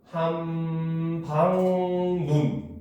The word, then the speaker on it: 함박눈: 있죠 예를 들어서 함박눈 요거 같은 경우는 소리의 길이를 표시해서 의문으로 표시를 하면은 함방 눈 하고 짧게 소리가납니다 알겠습니까 왜 둘째 이하의 음절에